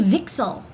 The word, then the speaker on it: VCSEL: We call it a VCSEL. That's apparently how it's pronounced.